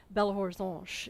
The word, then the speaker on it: Belo Horizonte: Belo Horizonte is close as I can get to the pronunciation, beautiful horizon.